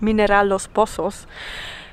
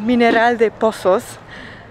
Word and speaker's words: Mineral de Pozos: in the town of Mineral los Pozos. Another Puelo Magico, a magical village, and that's what we're going to see now. Of course I said it wrong, it's called Mineral de Pozos, and I would say